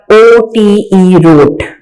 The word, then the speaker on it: wrote: Right की second form है रोट। W silent है, WROTE, रोट।